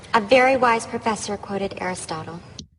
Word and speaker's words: Aristotle: Aristotle. 보통 우리가 아리스토텔레스라는 게 발음이 따라해보세요. Aristotle. 참 발음이 많이 달라요.